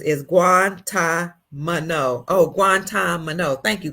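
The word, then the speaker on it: Guantánamo: well Jeffrey Guantanamo guanto Bay Leland says is guant mano oh guant Mano thank you guant Mano B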